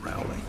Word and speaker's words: Rowley: It's pronounced Rowley. Rowley, but it doesn't matter. Rowley.